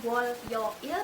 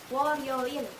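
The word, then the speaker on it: 월요일: Jadinya Woryoil. Woryoil. Jadi bukan Wolyoil tapi Woryoil.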